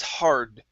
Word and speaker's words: hard: Okay, make sure to pronounce that D. Okay, you had said har sometimes. Okay, you stopped right on that R. So it was hard.